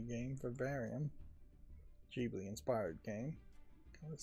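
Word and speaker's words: Ghibli: Um, this was the other Jubilee game. Very Jibli inspired game.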